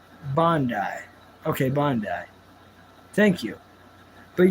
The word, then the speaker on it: Bandai: Yeah, Bandai. It's pronounced Bondi.